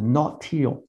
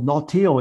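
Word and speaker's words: Nautile: a vessel called the not teal I think that's how you pronounce it n-a-u-t-i-i-l-e three people went down in this vessel and Buckley was was one of them and this ship this vessel nautil is the one that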